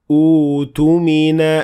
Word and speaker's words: اؤْتُمِنَ: أُوتُمِنَ أَمَانَتَهُ وَلْيَتَّقِ اللَّهَ رَبَّهُ. So here, Hamzat al-Wasl will be pronounced, and it will have Dhamma on top of it.